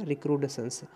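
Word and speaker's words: recrudescence: सही से प्रोनाउंसिएट करिएगा, रिक्रूडेशंस।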